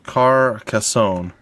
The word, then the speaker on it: Carcassonne: meet Thomas yes alright so it's technically Castle Carcassonne that is a that is what I have been told that is how I pronounce it because they didn't like when I